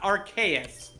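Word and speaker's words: Arceus: real sling and now now it's archus which is actually the more emically correct way to pronounce it Aras okay Aras AR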